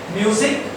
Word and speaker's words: music: Music, S is there, but the phonetic design gives you an idea that it should be pronounced as Z.